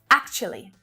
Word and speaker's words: actually: Actually. Actually. So you'll hear actually with 4 syllables, but actually is way easier with 3, right? As long as you can make that ch sound easily.